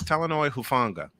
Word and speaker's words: Talanoa Hufanga: By the way, Playmaker, The name you were looking to pronounce last week was Talanoa Hufanga.